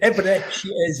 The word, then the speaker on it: Eberechi Eze: He said Eberechi Eze. I think it's a beautiful way you pronounce it.